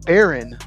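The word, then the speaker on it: Behren: It's pronounced Baron, but it looks like Baron, but it's Baron Morton.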